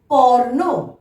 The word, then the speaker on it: কর্ণ: ক, মূর্ধন্য নয়ে রেফ, কর্ণ, কর্ণ।